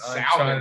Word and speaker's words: salmon: Listen, Salmon. The L is silent.